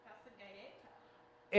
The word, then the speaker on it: passeggiata: They call it a passeggiata. Oh, that's how they say it? Yeah, passeggiata.